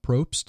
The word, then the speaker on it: Propst: is this pronounced but it's actually pronounced exactly the way it sounds and Speltz the way and it's spelt the way it sounds so it's a and then Probst it's PR o PS